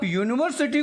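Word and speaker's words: university: ये तो वॉवेल है, लेकिन जब आप यूनिवर्सिटी को प्रोनाउंस करते हैं तो य आता है. य हिंदी में य आता है, उसको रिप्लेस करेंगे वाई से.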